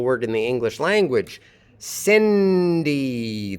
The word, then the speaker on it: Cindy: Cindy. The vowels are not the same in the two syllables of Cindy.